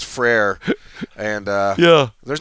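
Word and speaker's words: frère: French in high school so I know it's frere and yeah there's not a lot of things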